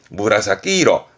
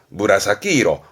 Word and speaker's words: 紫色: 근데 발음은 무라사키이로, 무라사키이로, 보라색이 됩니다.